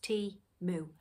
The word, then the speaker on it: Temu: words for their name timu and it is pronounced T moo um and they have